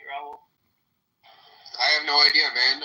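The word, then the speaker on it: Raúl: R A H Rahul you know Brazilian parina you know you just don't say the H. Okay it's Raul.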